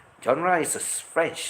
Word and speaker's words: genre: Genre is a French spelling because you don't have the pronunciation of the G that is there. It sounds like a J out there.